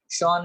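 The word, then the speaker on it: Schwann: 1838, और दूसरा बेटा थियोडोर शॉन, शॉन में भी आप लोग वैन बोल सकते हो, एस सी H completely silent रख करके।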